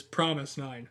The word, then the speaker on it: fromis_9: actually pronounce it this way too or it's pronounced korean is promise nine yeah um and it actually was from the